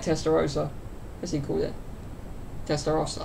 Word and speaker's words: Testarossa: is he cool yet testa Rossa uh-huh that's why I say in America they can't pronounce anything right no offense testa Rossa